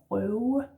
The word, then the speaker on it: røve: Last word is røve. Røve. R in the throat, slashed O, broken O, and then this w sound again, yeah? Røve, røve, or maybe just røve, røve.